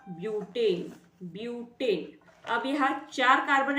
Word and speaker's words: ब्यूटेन: क्या बनता है ब्यूट ब्यूट स्पेलिंग बट है लेकिन साउंडिंग हमें ब्यूट करनी होगी ब्यूट ब्यूट सफिक्स लगेगा ए यानी क्या बनेगा नाम इसका ब्यूटेन ब्यूटेन अब यहां चार